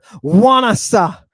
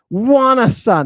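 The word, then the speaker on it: ϝάνασσα: looks like an F it does but it's pronounced like a w w w w give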